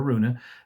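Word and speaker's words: Araunah: the threshing floor of ornan the jebusite or Aruna dependent upon which language you're pronouncing his name in David purchased it from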